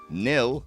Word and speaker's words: NIL: team WWE announced their inaugural nil or nil as some would pronounce it Collegiate recruitment class in